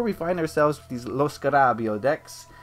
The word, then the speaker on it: Lo Scarabeo: I'm determined never to say Lo Scarabeo. That's not how you say it. I don't know why everyone says that. They're Italians, man. You gotta have some inflection. You gotta Lo Scarabeo. You gotta use your hands.